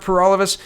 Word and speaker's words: Paralovos: My name is Per All of Us. That rhymes with For All of Us, and I'm the Guelph candidate for the October 21st federal election.